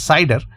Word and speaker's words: CIDR: as a cider notation or cidr which generally pronounces cider cider notation the full form